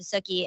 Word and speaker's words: Suki: gonna shout out to Suki and it's like cookie so if you want to know how to pronounce it suy like cookie she says um so yeah